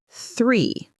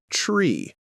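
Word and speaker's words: three: Put your tongue gently between your teeth and blow air, like this. Great. Now say 3. And now, tree.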